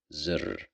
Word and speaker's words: زر: زر, here we pronounced it as z because of the kasra, zir.